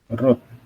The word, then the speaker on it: wrote: Nah, kalau verb 2 itu adalah wrote. Nah, cuma dibaca wrote-nya aja. W-nya nggak dibaca.